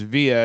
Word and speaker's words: Via: My wife and I travel to Italy a lot, and in Italy it's pronounced via, and it means street.